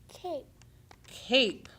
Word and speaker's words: cape: here c cap cap what happens when you take out the magic e c a p so hold on a minute what word is it C cape and so which letter did the E make say its name which vowel make